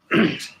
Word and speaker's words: Bose: Is it Bose or Boss? How do you say that? Bose? I don't know how to say that. Europeans probably say it totally different too. Yeah, well, I think it's Bose on the commercials.